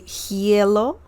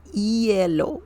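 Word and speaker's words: hielo: the ice excellent uh remember the H sound is silent in Spanish so you don't say hellow you need to say yellow yellow EO okay yellow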